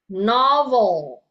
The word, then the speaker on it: novel: Nah, kalau ya tulisannya sama dengan bahasa Indonesia, tapi pengucapannya sedikit berbeda ya. Pronunciation is quite different. Oke. Novel instead of novel. Oke. Dalam bahasa Indonesia novel ya. Novel. Oke, dalam bahasa Inggris novel. Novel. Jadi lidahnya itu akan menyentuh langit-langit.